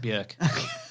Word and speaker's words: Björk: No, it's pronounced Björk.